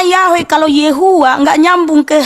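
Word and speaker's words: Yahweh: Y heav itu dibaca YHWH huruf Yhw dibaca Yahwe. Huruf yod, sin wain dibaca Yesua. Jadi kamu jangan eja gitu loh. Panggil dengan benar. Bis itu bisa dibaca Yeha, bisa dibaca Yahwe, bisa dibaca Yehua.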